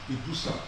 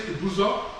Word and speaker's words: Ibusa: So as a result, in bus I guzz Gregory became written and pronounced as Ibusa, a name that has remained an official English spelling. Whether we are whether we say abusa or ibusa we are referring to one people one history and one profound